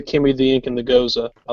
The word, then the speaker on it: Gose: So what he's drinking is actually pronounced Goza.